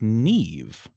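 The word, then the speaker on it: Niamh: Uh but it's it's pronounced nev, right? And and as you just told me, that mh turns into sort of a v sound.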